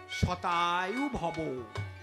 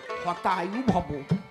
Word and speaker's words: শতায়ু ভব: শতায়ু ভব। উনি তো ঢাকাইয়া পণ্ডিত, উচ্চারণ হয় না। যেই প্রণাম দেশে উনি কয় হতায়ু ভব। হতায়ু মানে কি? হত আয়ু মানে তাড়াতাড়ি মরে যাও, আমার মাইয়াটা বিধবা হোক।